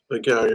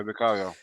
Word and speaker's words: Vicario: Vicario, I think it's Vicario. pronounced, isn't it? Yeah, Vicario.